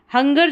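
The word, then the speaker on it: hunger: हंगर जो है, हंगर, देखिए यहाँ पर क्या कन्फ्यूज़न है, ये है हंगर, इसको ग पढ़ रहे हैं, ये जिंजर, इसको ज पढ़ रहे हैं।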